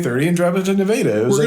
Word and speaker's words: Nevada: And it's spelled Nevada, but yeah, it's spelled Nevada, but in Iowa, we call it Nevada.